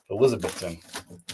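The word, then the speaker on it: Elizabethtown: if they pronounce it Elizabeth Town or Elizabeth tin here in Carolina we would describe we would say elizabethon but I don't know how they say it in Kentucky anyway either way thank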